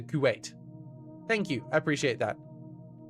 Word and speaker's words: Kuwait: It's pronounced like wait. Ah, it's a Kuwait.